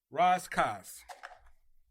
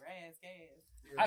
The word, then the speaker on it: Ras Kass: So, Raz Kass, That would be the the proper pronunciation.